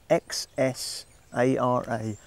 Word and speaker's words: Xsara: mid-size family hatchback, the Xsara, spelt X-S-A-R-A. That's how it's spelt, but you say it Xsara.